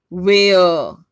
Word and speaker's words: where: Right, look, van, देखिए ये वैन, एन, वैन, वेयर, are silent है।